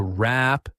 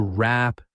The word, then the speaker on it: wrap: To wrap things up. To wrap things up. Notice that the W at the beginning of the word wrap is not pronounced.